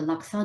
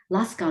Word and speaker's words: laksa: dish or you know the laksa noodle which is a very singaporean dish a spaghetti shaped rice noodle is constantly being pronounced as laska noodles because they think it's spelt more like alaska so i definitely spent